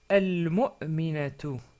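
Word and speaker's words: المؤمنة: Et on peut dire, quand on s'arrête sur le mot, bien sûr, rappelez-vous, on peut dire al-mu'mina. Al-mu'mina. Sans prononcer la ta à la fin.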